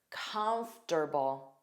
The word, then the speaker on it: comfortable: Did you notice that O in the middle? Well, you don't hear it as an O, but it does produce a sound because there are three sounds in this word. The first sound is stressed. Comf com, but then we have a tur tur. So that o is an unstressed schwah. It sounds like tur comfortable.